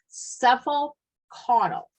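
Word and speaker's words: cephalocaudal: NCLEX likes this kind of term is called cephal cuddle and what that means as head to toe and I'm going to spell it for you are you writing down C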